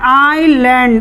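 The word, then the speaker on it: island: और अब हम इसका उच्चारण देखते हैं, आइलैंड, इससे भी हम आ शुरू में क्या बोल रहे हैं, आइलैंड, आ।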